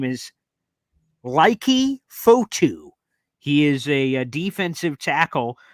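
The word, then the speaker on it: Leki Fotu: and I made sure I got the name pronunciation right because I looked up this player doing interviews. His name is Laiki Fotu.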